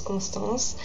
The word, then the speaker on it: Constance: In the French, pronunciation is Constance, and the middle name is.